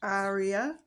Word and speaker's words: Arya: As you've heard in the video, we pronounce it Arya.